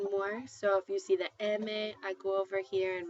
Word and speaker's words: eme: So if you see eme. I go over here and my eme is an m.